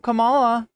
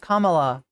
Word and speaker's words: Kamala: Her name is actually pronounced Kamala. And they fear that entity. If you need a trick to remember it, it's comma -law.